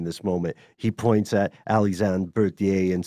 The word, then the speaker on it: Alexandre Berthier: But anyway, since you did manage to get a hold of me, you pronounced it as such. Alexandre Berthier.